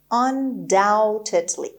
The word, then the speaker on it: undoubtedly: خب undoubtedly میبینیم که یه بی اینجا داریم و تلفظ نمیشه.